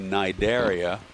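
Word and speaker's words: Cnidaria: division of animal life called the nigeria c-n-i-d-h-o-i-a-a the sea is silent they're all joined by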